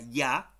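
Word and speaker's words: ja: ya ya es así ya se pronuncia ya ya significa y cambia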